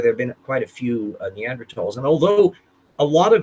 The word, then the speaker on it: Neanderthal: it without the 8u you never pronounce the H those are silent in German so it's always pronounced